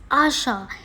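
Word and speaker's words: આશા: Next is hope, and I will write it in Gujarati and is pronounced as Asha.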